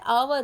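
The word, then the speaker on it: hour: उसी तरह से ये क्या है, इसको क्या पढ़ेंगे आप, इसको क्या हावर पढ़ते हैं? तो हावर नहीं होता है, बल्कि ये क्या होता है, आवर होता है।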